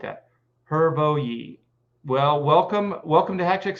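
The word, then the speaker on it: Hrvoje: It's pronounced Hervoyi. Oh, I like that. Hervoyi.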